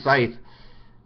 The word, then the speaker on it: Scythe: now it's already there it's called Scythe uh spelled s Cy t h e and in Scythe I hope I pronounced it correctly I I think it's Scythe um you there's a